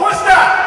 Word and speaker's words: Worcester: Hello, Worcester!